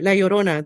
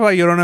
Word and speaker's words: La Llorona: Sorry, La Llorona. There you go. Oh, we have La Llorona in Mexico too. Scary, yeah. Yeah. Okay, Yeah, well, La Llorona, she drowned her babies in the Rio Grande,